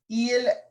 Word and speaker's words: ils: Notice I'm not pronouncing the S, so I'm not saying ils or elles. The only time I would pronounce the S is if there was a vowel.